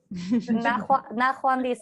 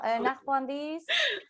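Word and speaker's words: ნახვამდის: Yes, Nahwandis. Nahwandis. I love that word. Nahwandis. Gamal No. No. Nahwandis.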